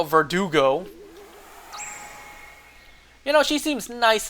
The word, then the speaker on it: Verdugo: head of Monarch Director Verdugo as it's pronounced, not Vertigo. Verdugo.